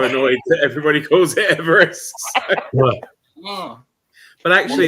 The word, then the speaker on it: Everest: Everest was named yeah or Everest that sounds quite fun or or Debs as you'll as you'll learn when you read it it should be eest oh should it yeah that's